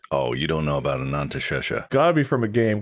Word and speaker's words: Anantashesha: Let me make sure I'm pronouncing that right. Anantashesha.